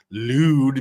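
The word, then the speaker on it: Lude: Rumors began circulating on August 21st after anti-Chinese Communist Party activists' social media account, Lewd Media, unfortunately Lewd is spelled L-U-D-E and not L-E-W-D.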